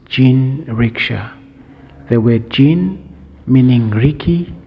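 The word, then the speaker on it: 人力車: word Richa in in fact in Japan is pronounced gin Richa the word Jin meaning Ricky which is the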